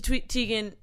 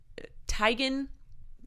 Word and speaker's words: Teigen: Teigen speaking of Twitter Chrissy Teigen Tigan we all say it wrong but she accepts it so it doesn't matter